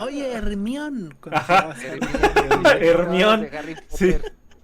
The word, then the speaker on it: Hermione: O sea, mi nombre está dividido en tres, en tres sílabas. Hermione, o así, ¿no? Dan en cuatro, perdón, cuatro sílabas.